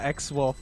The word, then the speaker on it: X-Wolf: I didn't know that X-Wolf was the pronunciation, but yeah, X-Wolf with the Sheriff play.